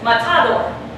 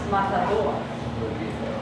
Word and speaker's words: matador: If I were to pronounce that word with that emphasis here, it would sound like this, matador. But it's not like that. It's pronounced matador.